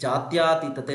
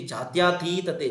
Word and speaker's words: ಜಾತ್ಯತೀತತೆ: ಒಂದಷ್ಟು ಪದಗಳನ್ನ ನೋಡೋದಾದರೆ ಜಾತ್ಯತೀತತೆ ಜಾತ್ಯಾತೀತತೆ ನಾವು ಉಚ್ಚಾರಣೆ ಮಾಡಬೇಕಾದರೆ ಇದುವರೆಗೂ ಕೂಡ ಏನು ಮಾಡಿಕೊಂಡಿದ್ವಿ ಜಾತ್ಯತೀತತೆ ಜಾತ್ಯ ಮಹಾಪ್ರಾಣವನ್ನ ದೀರ್ಘಸ್ವರವನ್ನ ಇಲ್ಲಿ ಸೇ ಸೇರಿಸಿಕೊಳ್ತಾ ಇದ್ವಿ ಜಾತ್ಯಾತೀತತೆ ಅಂತ ಹೇಳಿ ಆಕ್ಚುಲಿ ಶುದ್ಧ ರೂಪ ಬಂದು ಜಾತ್ಯತೀತತೆ ಅಂತಹೇಳಿ ಅದೇ ರೀತಿ ಗದ್ಯಾಂತರ ಅಲ್ಲ